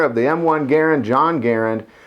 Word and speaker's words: Garand: French-Canadian inventor of the M1 Garand, John Garand. Last name is pronounced Garand, and a lot of people refer to this rifle as the M1 Garand. It's pronounced Garand, much like the word errand.